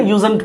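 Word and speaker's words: usedn't: बोलिए क्या, यूज्ड में नॉट जोड़ दिए तो ये यूजंट यहाँ डी साइलेंट हो जाता है ना, यूजंट पढ़ते हैं इसको।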